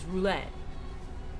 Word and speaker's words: roulette: Pronounce it with the T. Yeah, that's what I thought. Because roulette, right? It's not roulette. It's not like ballet. It's roulette. Like T, like la comatissa.